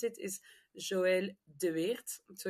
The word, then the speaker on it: Joëlle De: name just in case you wonder how you pronounce it is Joel de so it's a a flamish last name so